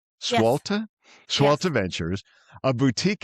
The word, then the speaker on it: Swalta: Yes, Swalta?